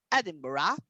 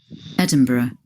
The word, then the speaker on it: Edinburgh: a a noun a personal noun that is edinburgh but we probably found it edinburgh edinburgh edinburgh not for the americans of course